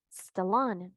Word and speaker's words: Stallone: Ahí no hay una E, le decía, porque él dice eso, y cuando ella lo pronuncia correctamente, ella le dice es Sylvester Stallone, Stallone, solo hace ese sonido.